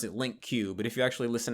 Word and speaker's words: LingQ: It's LING or LINKQ, and some people pronounce it LingQ.